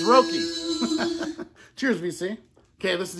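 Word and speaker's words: Roky: Yeah, I'll pronounce it right. It's Rocky.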